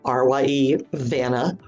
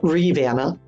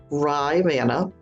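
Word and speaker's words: Rivanna: say it came from the nearby Rana river which locals also pronounce r Vanna R ye Vanna and not Reanna Ry Vanna others say it came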